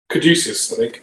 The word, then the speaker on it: caduceus: the catchy how do you say that caddisius caduceus caduceus yes that's the word i'm looking for